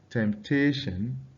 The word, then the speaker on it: temptation: So you have something like temptation. Okay, sorry, there's supposed to be a P after the term. So we have temptation. Temptation. You can see the stress is on the tation, decision, permission.